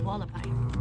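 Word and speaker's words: Hualapai: Do you remember how they pronunciate the tribe? Yes. Oh, Wallapai.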